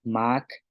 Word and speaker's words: maak: En contrastándolo con un tono bajo, sería Mac, que significa eh, tapa,